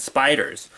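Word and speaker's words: SP//dr: horrific turn, a radioactive spider bites a high school nerd who's already something of a monster, then what or who is the incredible SP-DR? I just pronounced it Spider.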